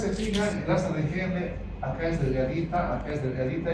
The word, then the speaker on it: Henle: Pero si ustedes se fijan, el asa de Henle acá es delgadita y acá es gruesa.